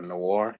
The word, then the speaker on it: noir: I don't know how to say the word noir or noir, N-O-I-R.